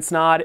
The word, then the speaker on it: Snod: My name is Snod. It rhymes with odd, and welcome to another video.